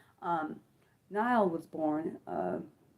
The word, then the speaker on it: Nyle: Was it Nile? My bad. I might be saying it wrong. It might be Nyall. Um, yeah. No, it is Nyall because I'm thinking of Kyle. Yeah, Ron Kyle, sorry guys, it's his name is Nile DeMarco.